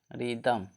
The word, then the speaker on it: rhythm: Next देखिए RHYTHM, रिदम। शुरू में है ना RH, इसका उच्चारण H का उच्चारण नहीं हुआ तो रिदम।